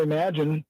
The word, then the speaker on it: Emagine: those listening at home, it's not Imagine, it's Emagine. How do you say it? Go ahead. You do it. I call it Imagine, but it's spelled with an E instead of an I.